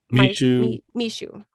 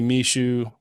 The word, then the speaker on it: Michaud: it's m-i-c-h-a-u-d yes m-i-c-h-a-u-d machine mishu some people say mishu some say misho it's